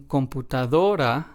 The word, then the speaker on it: computadora: first one and then in computadora we stress the second to last syllable because that is what this rule asks us to do so we stress the syllable do and then in the